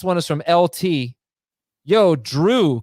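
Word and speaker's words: Jrue: Yo, Drew, Chris, and Brooke. Drew is spelled J-R-U-E.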